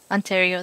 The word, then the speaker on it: Ontario: know how to pronounce. Ontario.